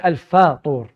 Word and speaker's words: الفطور: الفطور. Notice that he said الفاطور, which is the correct way to say it.